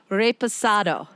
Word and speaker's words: reposado: i know how to say it correct now reposado okay you got it i'm on the i'm on the road to the correct pronunciation it's in such a culturally vibrant community